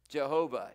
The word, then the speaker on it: Jehovah: to tran uh just how you want to pronounce it jehovah yahweh that's the lord now if you see